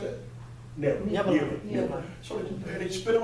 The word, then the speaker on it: Nineveh: So, the fish took Jonah to Nineveh. How you pronounce that? Nineveh.